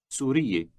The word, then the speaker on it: سورية: Note that when addressing a woman, you have 3 syllables. For a man, there are only 2.